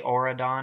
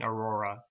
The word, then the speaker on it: Aurora: If I ever say Auradon, I mean Aurora.